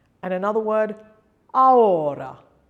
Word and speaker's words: ahora: And another word, ahora, ahora. The two vowels allied into each other.